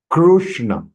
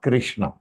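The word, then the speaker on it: कृष्ण: K am I right kushna in between k then half it became because of it became so kushna so kushna kushna is the right pronunciation it is not Krishna it is going in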